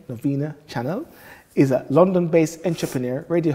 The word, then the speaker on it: Novena-Chanel: private sectors, and Novena-Chanel, and make sure you pronounce her name, Novena-Chanel, is a London-based entrepreneur, radio host, and presenter